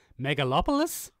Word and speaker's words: Megalopolis: is the first time I've ever said this megalopolis that's how it's pronounced also a trailer for Netflix Ultraman Ultram